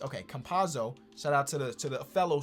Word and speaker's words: Campazzo: How do you pronounce this man's name? Campazzo. I just tried to combine his 2 names. Okay, Campazzo.